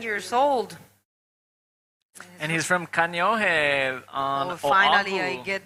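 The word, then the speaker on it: Kāneʻohe: And he's from Kaneohe on Oahu. Finally, I get that pronunciation. Kaneohe.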